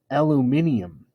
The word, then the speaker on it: aluminium: 7 4 tons of aluminum aluminum last saturday and fun fact in britain they pronounce it aluminium yeah so there you